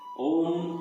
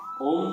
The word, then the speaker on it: ओम: बहुधा अशुद्ध उच्चारण के कारण ओम का स्वरूप रोमन लिपि में ओ एम अक्षरों से दिखलाया जाता है। परंतु इसका शुद्ध स्वरूप केवल ए यू एम अक्षरों से ही दिखलाया जा सकता है।